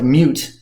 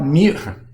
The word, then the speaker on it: mute: And a mute, it's spelled just like mute, like I can't talk, but mute. Wouldn't that be nice? Mute or mute, the French word, means basically you take